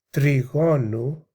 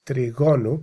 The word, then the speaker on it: τριγώνου: λόγων τες λιπές του τριγώνου, actually that's τριγώνου because the accent is on the omega, πλευρές.